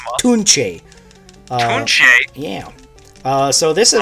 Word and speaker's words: Tunche: Tunch. Hand-drawn it's pronounced Tunche.